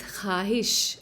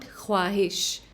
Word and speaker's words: ख्वाहिश: us the sound w, when preceded by a khe and followed by an alif is always silent.